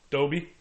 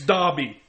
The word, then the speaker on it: Dobby: Dobie. Stop it! You call yourself a Harry Potter fan, I'd do it just to piss her off, and it's fun. and you don't say his name right. It's Dobby.